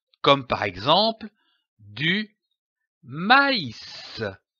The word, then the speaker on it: maïs: Cet accent tréma indique que la voyelle qui précède doit être prononcée séparément, comme par exemple du maïs, maïs.